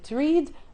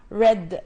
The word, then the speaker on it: read: وهنا طبعا زي ما احنا ملاحظين كلمة read مش هتتنطق read، هتتنطق read، لان ده الباست بتاع كلمة read. كلمة read الباست بتاعها نفس السبيلنج ولكن نفس الحروف يعني، ولكن بننطقها بطريقة مختلفة، فبنقولها read زي بالظبط نطق كلمة red اللون الأحمر، فده الباست فورم بتاعها.